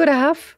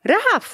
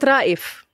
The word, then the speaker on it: Rahaf: He was like, no, Rahaf, wow, what a beautiful name. Oof. I was like, yeah, but people don't know how to spell it or to pronounce it. It's good, it's not Raif.